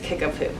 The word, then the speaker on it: Kickapoo: it's not what you would expect but it's pronounced kickapoo so those three communities were the ones that